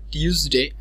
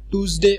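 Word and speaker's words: Tuesday: সো সবগুলো আমরা মোটামুটি ঠিকই উচ্চারণ করি, কিন্তু যখন আমরা টিউসডে এবং ওয়েনেসডে বলতে যাই, এই দুইটা হয়তো আমরা টুসডে অথবা ওয়েডনেসডে অনেকে বলে ফেলি।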